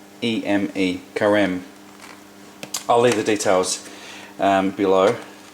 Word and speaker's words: Carême: We're going to use this pastry as I spoke about before, and I think the pronunciation is carême. C-A-R-E-M-E, carême.